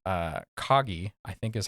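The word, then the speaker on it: Kagi: go isn't cutting it for you um there's one that I've played around with called uh kogi I think is how you pronounce it k a gii um they are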